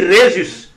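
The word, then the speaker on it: Jesús: utilisent les langues espagnoles ils écrivent Jésus mais il prononce sa Rhésus est prononcé r il dit Rhésus n'est-ce pas donc la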